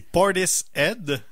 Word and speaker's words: Portishead: C'est Portishead. Parce que le mot head en anglais, c'est quelque chose, hein?